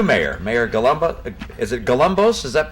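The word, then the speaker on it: Galambos: Is it Galumbos? Is that how you pronounce it about?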